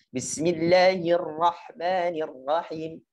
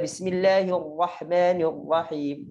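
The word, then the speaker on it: بِسْمِ اللَّهِ الرَّحْمَٰنِ الرَّحِيمِ: Jadi cara bacanya ditipiskan dulu baru tebalkan. Bismillahirrahmanirrahim. Enggak boleh Bismillahirrahmanirrahim langsung tebal. Ini salah.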